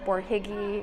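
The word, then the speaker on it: Borhegyi: the museum's website or just google stephen f bourjiggy which if you can't see is spelled b-o-r-h-e-g-y-i look him up he's a very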